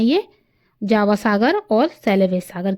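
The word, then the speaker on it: Tsugaru: में है यह जावा सागर और सेलेबस सागर के बीच में मक्सर जलराम मध्य नेक्स्ट इ तु सुगारू वैसे इसको सुगारू भी पढ़ेंगे टी साइलेंट रहेगा तो सुगारू जलडमरूमध्य यह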